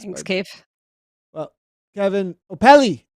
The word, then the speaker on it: Opele: Well, Kevin Opele. I said it right that time, I think. Right? Did I get that? Opele, yes.